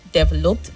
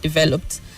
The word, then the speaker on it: developed: So the word is developed. The stress is on the second syllable, not developed, but developed.